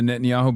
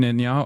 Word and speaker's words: Netanyahu: Hit him with the Netanyahu being the real, make pretend president, realize he's just a city mayor.